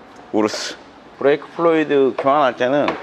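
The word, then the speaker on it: Urus: 광고해 주는 거 아니야 우리 영상에서 우루스라고 하니까 우루스 아니라고 라고 얘기하더라고 독일어입니다 영어가 아니라 저는 우르스라고 읽어요 우르스 브레이크 플로이드 교환할 때는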